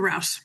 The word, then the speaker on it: Rouse: And my my last name is pronounced Rouse, like mouse. So, Dr. Rouse, it's all good.